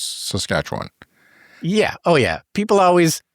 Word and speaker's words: Saskatchewan: you how to pronounce saskatch one yeah oh yeah people always for some reason when they're not here it's they emphasize the first two syllables Saskatchewan but really it's just